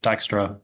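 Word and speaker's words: Dijkstra: Um it was made by this guy uh Edgar Dystra um and he was a Dutch guy so it is pronounced Dystra um if you want to get that right.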